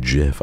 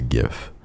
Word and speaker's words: GIF: less intellectual and using and pronouncing Jif as a gif that's when it becomes